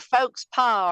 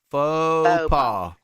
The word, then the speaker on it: faux pas: But then Mr. Folks Pa, or however you say it. I know I'm saying your name wrong. I'm sorry. Faux pas. Say it after me. Say it with me. Faux. All right. Faux pas. Faux pas. Say that. Faux you pas. say okay. Faux pas.